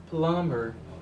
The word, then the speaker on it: plumber: I don't say that I prefer me say plumber plumber always say longer because in this word the beat is a silent letter the beat is a